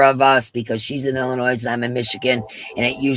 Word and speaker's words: Illinois: It's Illinois. Did I say it wrong? Yeah, it's Illinois, and I think you said Illinois. Noise, like, you know, okay, D.